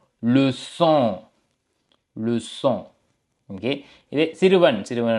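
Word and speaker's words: leçon: என்றது வந்து பிரெஞ்சுல வந்து லு சோ என்று சொல்றது லு சோ ஓகே அப்ப இதனுடைய உச்சரிப்பு பார்த்தீங்க என்றால் என்ன நான் சொன்னேன் எஸ்ஐ போல இருக்கும் என்று ஓகே அப்ப சே மற்றும் சேஜி மற்றும் ஓ சோ லுசோ லுசோ ஓகே இதை சிறுவன்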